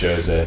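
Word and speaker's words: José: Jose Mourinho loves running one of those. It's pronounced Jose.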